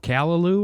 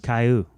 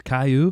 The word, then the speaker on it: Caillou: this feels so good like in the show callaloo or whatever it does caillou his name's caillou caillou yeah i didn't know that's how you